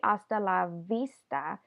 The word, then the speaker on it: hasta la vista: harder sound love but because you have the the a in LA and the I in Vista this sound turns into more of a B sound so you don't say hasta LaVista you say hasta la vista and let's just do to